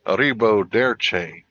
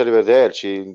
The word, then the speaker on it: arrivederci: Non si dice arrivederci, si dice arrivederci, devi dire così proprio veloce, capito?